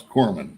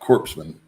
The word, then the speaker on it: corpsman: marine force quarterback for pronounce corman see i'm doing better not corpsman no biggie i just